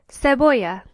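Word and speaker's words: cebolla: Onion is seoya. Notice that in this word there are two L's. If you remember back to our alphabet lesson, this is pronounced aay. So the word is pronounced seoa.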